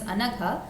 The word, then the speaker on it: Anagha: So in Sanskritam, Alpa Prana and Mahaprana, it makes a great change. So let me give the example of my name only. My name is Anagha.